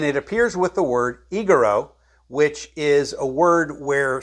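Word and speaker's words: ἐγείρω: That's word 1453, pronounced egero, which this word appears 144 times in the Greek New Testament.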